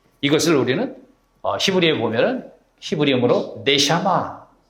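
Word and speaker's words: נשמה: 그래서 이 생명의 숨 하나님이 믿는 이에게 불어넣으신 이것을 우리는 히브리어에 보면은 히브리어로 네샤마. 다 같이 해보세요. 네샤마.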